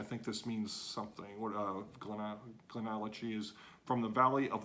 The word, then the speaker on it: GlenAllachie: That's GlenAllachie. GlenAllachie. Okay, so that's GlenAllachie. That's how you say it.